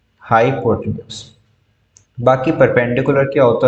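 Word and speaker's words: hypotenuse: उसको हम प्रोनाउंस कैसे करते हैं, हाइपोटेन्यूज।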